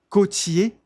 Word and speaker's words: côtier: Un pilote côtier côtier, não se pronuncia esse R.